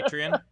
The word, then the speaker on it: Patreon: I think America knows and the world knows it's pronounced Patreon, and I think Steve knows it. Say Patreon?